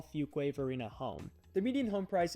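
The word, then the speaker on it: Fuquay-Varina: suburb that we're going to cover is called fuk wave Arena and this may be the first time you've ever heard it pronounced correctly especially if you don't currently live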